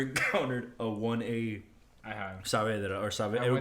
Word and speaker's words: Saavedra: And she's like, Saavedra, and I was like, What? all right, how do you spell it?